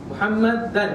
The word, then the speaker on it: Muhammad: but when we say Muhammad is one word Muhammad Muhammad is see so that is the correct